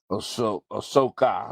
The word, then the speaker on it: Ahsoka: It is Ahsoka. Okay, I wasn't pronouncing her name right, and she'll be played by.